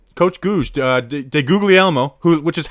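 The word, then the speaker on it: DeGuglielmo: be in the rotating tackle it's coach guz de googly elmo who which is how you pronounce it by the way i found out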